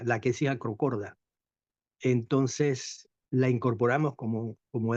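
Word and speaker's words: Lachesis acrochorda: habitaba nuestro terruño y que ahora se llama la quesis acrocorda. Así se pronuncia, la quesis acrocorda.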